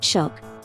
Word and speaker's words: 衝撃: Trong tiếng Nhật, chữ kanji này được phát âm là "shougeki", nhưng trong manga One Piece, nó được phát âm là "shock".